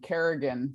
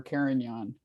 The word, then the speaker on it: Carignan: My favorite though is Kerrigan for Carignan.